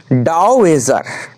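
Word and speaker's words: dowager: উচ্চারণটা কি দেখে নিই উচ্চারণটা এরকম হবে ডাউজার তাহলে এটা কিসে আছে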